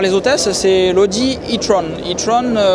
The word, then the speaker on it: e-tron: hôtesses c'est l'audi e-tron itron on va le prononcé à l'anglais je vous explique pourquoi